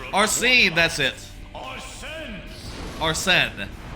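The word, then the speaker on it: Arsène: Arnen, that's that's how you say it.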